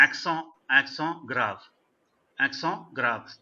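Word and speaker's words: accent grave: एक्सों ग्राव, T silent है.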